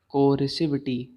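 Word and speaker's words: coercivity: फिर, और इस प्रॉपर्टी को क्या कहते हैं, कोरेसिविटी, COERICIVITY, कोरेसिविटी।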